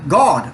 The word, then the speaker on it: goad: Also, when you look this word goad up, you'll find that it's really pronounced God, the way that we pronounce God.